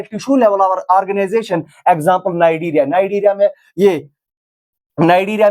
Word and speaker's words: Cnidaria: ये कैनाइडीरिया नहीं है, इसका सी साइलेंट रहता है, ये नाइडीरिया इसको पढ़ते हैं। टिश्यू लेवल ऑर्गेनाइजेशन किसमें होती है? जो नाइडीरिया में ऑर्गेनिज्म पाए जाते